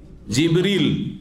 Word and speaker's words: জিবরীল: কে জিব্রাইল আলাইহিস সালাম জিব্রাইলের নামের দুটো উচ্চারণ রয়েছে জানেন না জানেন না আমাদের দেশে শুধু জিব্রাইল উচ্চারণটি প্রসিদ্ধ তাই না কিন্তু হাদিস কোরআনে কি রয়েছে জিবরীল কি রয়েছে জিবরীলা